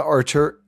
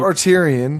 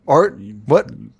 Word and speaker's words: Arterton: And one of my earliest crushes in Hollywood, Gemma Arterton, not Arterian. Nope. Arterton.